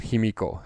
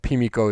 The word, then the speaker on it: Pimiko: its focus on somebody called Pimiko, sometimes called Himiko as well, but Pimiko is the classical pronunciation of it, the Queen of Wa.